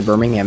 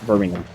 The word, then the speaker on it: Birmingham: The hard H came out in my pronunciation as an American in Birmingham.